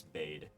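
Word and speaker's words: Byd: I was gon to say his name is bade b y d while she is eating um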